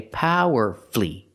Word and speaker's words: powerfully: on the first syllable so we do not pronounce the U powerfully not powerfully not powerfully not four syllables the U is silent so we say power flee because the stress is